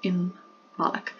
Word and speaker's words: Imbolc: But it is pronounced Imbolc.